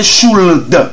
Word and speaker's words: should: Should, we don't say should. No, L is not pronounced. Don't pronounce L. Don't say should. No, we say should, would not, should not.